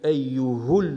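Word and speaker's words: أيُّهُ: Prononce donc le ha avec une dhamma, ce qui donne ilallahi jami'an ayyuhul mu'minun.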